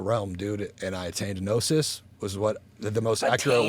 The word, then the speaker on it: gnosis: And then that night I came out of my body, and I went to another realm, dude, and I attained gnosis.